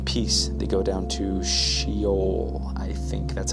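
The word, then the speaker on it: Sheol: prosperity and in peace the go down to shol I think that's how it's pronounced here it's how it's actually pronounced shol cool they say to God depart from us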